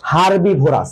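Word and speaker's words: herbivorous: ঘাস লতাপাতার কথা বলছি তাদেরকে আমরা বলব হচ্ছে হারবিভোরাস তাহলে এক নাম্বারে হচ্ছে এইচ ই আর হারবি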